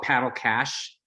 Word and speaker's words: Paddle Cash: website we call it paddle cache it rhymes with paddle smash so um the idea